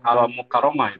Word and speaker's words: Al-Mukarramah: Yang saya hormati Ibu narasumber, itu dibacanya AI atau Al-Mukarramah itu.